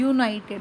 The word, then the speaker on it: united: अब यहाँ पे U है, मगर इसका प्रोनाउंसिएशन क्या है? यूनाइटेड। वाई से लग रहा है ना, तो वावल साउंड नहीं है इसलिए अ आएगा।